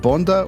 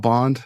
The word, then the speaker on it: Bonde: If I could live without Bond, as cool as he is, but I would prefer to eat. Yeah. But Bonde is the Danish pronunciation. Bonde.